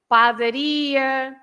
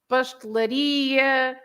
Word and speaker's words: padaria: The words ending in ia, they are stressed at the end. So you have lots of shops, for example. You say padaria, pastelaria, gelataria, sapataria, mercearia, and so on.